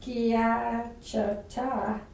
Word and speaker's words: schiacciata: In Tuscany, sciarricata, which is pronounced schiacciata and roughly means crushed,